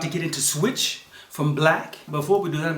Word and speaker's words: 6lack: I know I did a lot of research and people, try to pronounce it Black or 6 Black or Black or that's crazy. But yeah, it's Black.